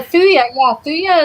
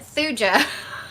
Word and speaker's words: thuja: I constantly call it thuja. It's thuja.